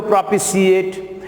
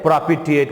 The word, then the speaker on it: propitiate: अब सी भी जोड़ सकते हो, प्रोपिशिएट, लेकिन शुद्ध हिंदी में प्रोपिटिएट बोलेंगे। इसको क्या बोलोगे?